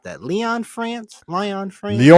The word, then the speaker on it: Lyon: How do you pronunciate that? Leon France. Lion France. Leon.